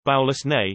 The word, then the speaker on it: Balosnee VI: Baloney Vi, a vacation planet pronounced Baulus Ne, where the soothing harmonies of the tides can cause stimulating hallucinations.